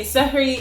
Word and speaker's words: Suhoor: Suhoor or Sehr means, there's many different pronunciations. People also say Sehri. It really just depends on what part of the world you come from, but it's an Arabic